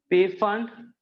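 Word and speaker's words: Pfund: पी फंड या पी फुंड भी कई लोग प्रोनाउंस करते हैं।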